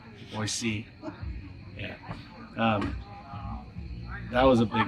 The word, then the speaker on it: Boise: I said it right, Boise.